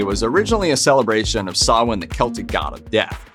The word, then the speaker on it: Samhain: But in Irish, the MH letter combo is pronounced like a W, so a better approximation of how it should be said is Samhain.